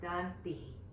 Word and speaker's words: dantih: pronunciation of the word dantih. There's a little bit of a ha at the end of that syllable.